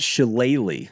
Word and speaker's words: shillelagh: of all but more importantly the jeweled it's pronounced sheleighly the jewelry is the trophy awarded to the winner of the annual game a shillelagh is an Irish Club made of oak and